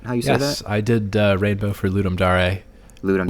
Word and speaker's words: Ludum Dare: I did Rainbow for ludum Dar ludum which would be how you pronounce it if you're pronouncing it like Latin which it is oh okay uh or you could pronounce it as ludum dare if you think like